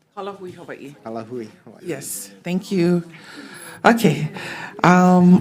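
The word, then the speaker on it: Ka Lāhui Hawaiʻi: Next, we have Kalahui, Hawaii, in support. Did I pronounce it correct? Kalahui, Hawaii. Kalahui, Hawaii.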